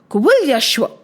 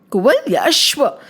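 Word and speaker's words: Kuvalayashva: Down the line like there was one more king whose name was Kal Yashua. Pronounce Kul Yoshua. Kul Yoshua.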